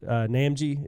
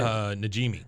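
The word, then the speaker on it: Najimy: I don't know how to pronounce her last name, but the lady that does Peggy's Namji, is that how you say it? Najimi.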